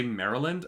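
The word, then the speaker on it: Merrilin: i was like yeah it's spelled differently i i'm reading it now and i can see that it's spelled um it's not spelt like maryland but they say maryland and i was like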